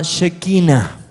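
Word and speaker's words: shekinah: Ahora, esa luz manifestada de la gloria de Dios se llama, es una palabra hebrea, se llama shequina. Shequina. Se escribe así. S e h k i n a h.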